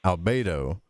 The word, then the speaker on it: albedo: is pronounced Negreto, and the whitening, which is pronounced Albedo, and the reddening, which is pronounced Rubedo.